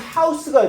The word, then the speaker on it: house: 여기서 house가 얘들아 동사로 쓰여졌네. 어떻게 알아? 이게 주격 관계대명사야, 그렇지? 바로 동사가 나왔을 거야. 자, 그러면 house가 얘들아 동사로 쓰여지면 house가 아니라 house로 발음이 되고 뭐뭐 할 장소를 혹은 뭐뭐 할 집을 마련하다라는 뜻이야.